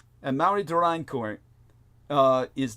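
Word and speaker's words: Amaury de Riencourt: French historian by the name of I would pronounce it Maui dein cour and Mari durine cour uh is not spelled the way it sounds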